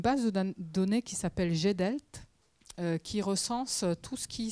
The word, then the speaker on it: GDELT: Tu prononces ça comment? GDELT.